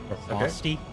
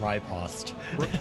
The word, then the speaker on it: riposte: Riposte, both are acceptable. I mean, it's all acceptable, but... No, riposte I will not accept.